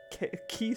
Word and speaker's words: quay: quickly hide the Revenger key 666 which until recently I would have pronounced Quay because I never actually hear that word spoken that is the word I learned from books stab Fest six everywhere